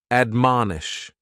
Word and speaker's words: admonish: The first word is to admonish, and admonish has 3 syllables, and the stress is on that second syllable, mon. Admonish, and this is a